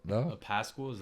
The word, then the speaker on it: Pascal: Is that how you pronounce that? Yeah, right. Pascal? It's Pascal. It's Pascal. Say it like that. Oh, Like it's not Pascal. I Pasquale. don't think there's a U in there. It's not QUAL.